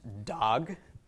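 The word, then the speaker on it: דג: by a gimel okay Dalit makes the sound of the letter D comets makes the short a sound and gimel makes a G so this is pronounced dog but it is not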